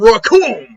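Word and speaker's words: Recoome: And Raccoon, because it rhymes with Doom, and you're gonna be hurting, brother.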